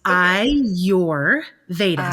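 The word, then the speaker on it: Ayurveda: a little trick that I teach people it's I your Veta so it's like I your v i your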